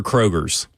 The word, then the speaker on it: Kroger: So, you go K Rogers. Yeah. Yeah. Yeah. It's Kroger's. But there's an S on the absolutely. Listen. This so many words out there that have the silent letter in it. And this is one that don't even it's it's um it's it's an imaginary letter on there. You know what I mean?